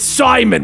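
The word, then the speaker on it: Psimon: Simon just calm down no it's Simon with a silent P from the destruction Lex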